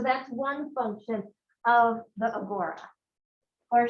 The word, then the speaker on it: agora: one function of the agora or she likes to say that agara which i think is the more greek pronunciation of it okay um i'm going